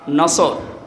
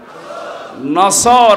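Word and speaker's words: نصر: নিয়ে আমরা তাফসীরুল কোরআন মাহফিলে প্রবেশ করছি সূরা নসর কোন সূরা বলেন বলেন নসর না নাসর নুন সোয়াদ র নাসরুন শব্দের শাব্দিক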